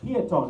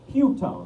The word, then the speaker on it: Peotone: pronounce the name right it's peone not puton right cuz pew pew that's more of a Chicago thing good yeah some of